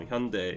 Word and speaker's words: Hyundai: to be a proud Korean, I would be Hyundai. Yeah, so Hyundai is the proper pronunciation, but even Hyundai Global, like if you see their marketings, like they pronounce it Hyundai.